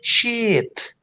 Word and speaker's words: sheet: You have to say sheet. Harus panjang cheat.